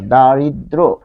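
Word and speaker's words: দারিদ্র্য: তাহলে এর সাথে অছে ফলে দ্র হচ্ছে দ্র এখানে ও চলে আসছে তাহলে দেখুন এখানে জফলা জফলার কিন্তু কোন উচ্চারণ হচ্ছে না দারিদ্র তার মানে সংযুক্ত ব্যঞ্জন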